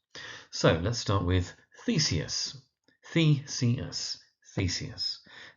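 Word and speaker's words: Theseus: So let's start with thesis. Theus thesis emphasis on the first syllable.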